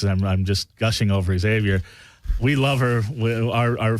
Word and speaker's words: Xavier: Algerian right next to you we have uh Xavier axelon yes did I pronounce that right Xavier perfect oh great and he is uh he